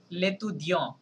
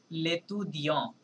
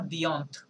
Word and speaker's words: l'étudiant: নম্বর যে লেতু দিয়ঁ, এটা টিটা সাইলেন্ট থাকছে প্লাস এ এন পর্যন্ত উচ্চারণ হচ্ছে, ঠিক আছে? কি হবে তাহলে? লেতু দিয়ঁ, নট দিয়ন্ত.